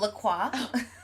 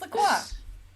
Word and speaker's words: La Croix: Rubik says it's so weird to hear it pronounced the French way. What's the French way of what? Oh, La Croix.